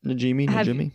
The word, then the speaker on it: Najimy: Have you met the three main actors, Bette Midler, Sarah Jessica Parker, and Kathy Najimy? I'm pretty sure I'm pronouncing that correctly. Yeah. Najimy.